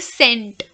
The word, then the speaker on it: scent: In the word scent, okay? Scent? Scent, like Bath and Body Works scent. Which letter is silent, S or C? It's C.